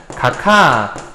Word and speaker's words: 각하: 기역이 히읗을 만났네요. 그러면 각하 요렇게 발음할 수 있습니다.